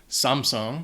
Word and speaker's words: Samsung: Số 11 - Samsung Đó là một công ty Hàn Quốc nên tôi nghĩ chính xác phát âm về mặt kỹ thuật sẽ là Samsung.